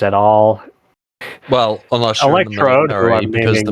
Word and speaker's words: Electrode: There's this one Pokemon they might restrict not having around, the electric type Pokemon Electro Bob. If I'm pronouncing it right, it's been a while since. That's what name is Electrode.